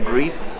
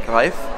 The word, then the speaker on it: Greif: English natives tend to pronounce it der Grief. It's not right, it's der Greif.